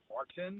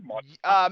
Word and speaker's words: Maarten: Mark, but is it pronounced Martin? Yeah. Martin? Yeah. I mean, obviously with a Dutch accent, it's probably gonna sound differently, but it's like the equivalent of like Miguel and Michael, in Spanish, or.